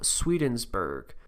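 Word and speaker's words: Swedenborg: of the occultist Emanuel sweden's burg I looked it up that's how you pronounce it it's just Sweden and then Berg who's philosophies were said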